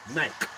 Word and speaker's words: Nike: Because we're in the UK, we say Nike. Yeah. But in America, where it was created, it's Nike.